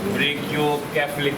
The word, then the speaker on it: brachiocephalic: Brachiocephalic, not cephalic. It's a wrong pronunciation. From plus 1, plus 2, you don't know. The teachers, they don't know what is cephalic and what is cephalic. It is brachiocephalic.